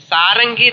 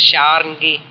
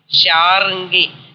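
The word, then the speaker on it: शार्ङ्गी: Sharangi is Banam, where is called Sharangi. Vishnu Murti, like Sarangi they call, but real word, correct word is Sharangi. Sharangi.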